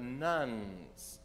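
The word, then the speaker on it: nones: jd greer he says each year the nuns in our society now that's not the catholic church kind of nuns it's spelled n-o-n-e-s those who check none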